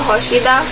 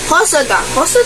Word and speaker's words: Hosoda: It's directed by Momaro Hoshida. Why is it sticking? Hosoda. I am sorry for the mispronunciation.